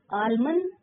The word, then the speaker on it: almond: Almond L silent.